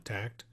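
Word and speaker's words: Takt: think for those of you not familiar with tact it's spelled t-a-k-t right bruce yes t-a-k-t it's a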